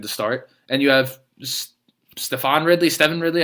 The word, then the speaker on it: Stevan: start, and you have Stevan Ridley. I don't even know how you pronounce his name anymore. It's been so long. It's just Steven. That's not how you normally spell that.